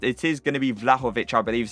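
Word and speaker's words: Vlahović: It is going to be Vlahovic, I believe is how you pronounce it.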